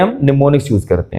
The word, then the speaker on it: mnemonics: निमोनिक्स जब pronounce किया जाता है तो निमोनिक्स पढ़ा जाता है, प्रोनाउंस किया जाता है। जब इसको लिखा जाता है तो M से इसको स्टार्ट करते हैं, MNEMONICS, ठीक है, निमोनिक्स।